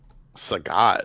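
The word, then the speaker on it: Sagat: Saget what that's not you pronounce his name so god is how normal people say it right yeah do you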